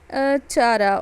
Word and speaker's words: Chara: U for Ulothrix, S for Spirogyra, V for Volvox, C for Chlamydomonas, and C for Chara, or you can pronounce that Chara also.